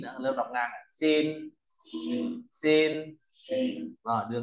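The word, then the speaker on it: 心: Ví dụ ra có chữ này thì đọc là gì ạ? Xin, đúng rồi.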